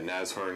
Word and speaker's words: Nashorn: talk about uh running server sight JavaScript with nasorn uh nasorn is the correct pronunciation of the word um uh nasorn is